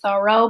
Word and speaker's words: Thoreau: you've imagined Henry David Thoreau I'm not even saying his name right now I'm a big fan of him it's actually pronounced sorrow but I've said it